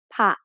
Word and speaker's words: ผะ: The first syllable ผะ is a low tone because it has a high-class initial consonant with a short vowel to make a dead ending.